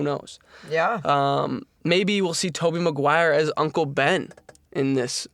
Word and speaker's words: Tobey Maguire: say I have a opposing viewpoint on this because people could argue that Tobey Maguire's, is that how you pronounce his name? Yeah. Tobey Maguire.